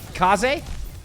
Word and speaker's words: Case: Case is pronounced like Kaze. It is actually Kaze.